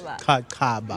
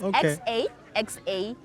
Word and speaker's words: Xaxaba: So wait, let's do it right. Xaxaba. Yeah, it's Xaxaba. Xaxaba. So it's not even a Q, but it sounds like between an X and a Q.